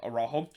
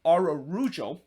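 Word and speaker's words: Araujo: had to deny or or not arajo it's ararujo uh always they sometimes get get that one wrong but i'm getting better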